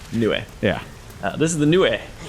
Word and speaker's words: Nue: It's technically a Japanese name, so each of the vowels gets a syllable. Right, it's Nioh. Nioh.